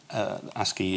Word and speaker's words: ASCII: the way ASCII as it is now called ASCII is the way you pronounce a SCO is not very popular now